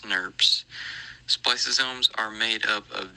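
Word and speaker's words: snRNP: by small nuclear ribonucleoproteins sn rnp's commonly pronounced snurps spliceosomes are made up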